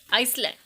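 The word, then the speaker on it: island: Astley, आइसलैंड, इसले। यहाँ पे एस जो है साइलेंट रहेगा।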